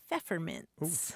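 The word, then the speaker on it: Pfefferminz: may know grant that the German word for peppermint is feints feints starts with a P right as in German and and for the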